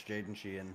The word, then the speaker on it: Jaden Sheehan: Uh, First of all, you did pronounce it right. It's Jaden Sheehan.